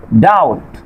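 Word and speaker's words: doubt: তারপর খেয়াল করেন ডেট, ডাউট, সাটল, এখানে কি আছে, বি এর পরে ঠি আছে, এই জন্য কি হচ্ছে আপনার এই বি লেটারটি সাইলেন্ট থাকছে।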